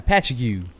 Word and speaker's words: Patchogue: I know how that's pronounced. Yeah, Patchogue.